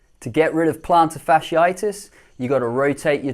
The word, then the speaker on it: plantar fasciitis: that pops up is a tricky one to pronounce: plantar fasciitis.